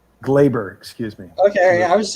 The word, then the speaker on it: Gleyber: Gleyber? Gleyber, excuse me.